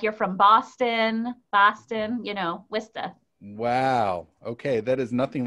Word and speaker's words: Worcester: Well, I'll give you two pronunciations if you don't mind. Yeah. Rabbi Karen Thomashow is from Worcester, Massachusetts. Worcester.